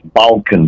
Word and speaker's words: Balkan: How you pronounce the name of the company? It's Balkan, B-A-L-K-A-N, Balkan okay.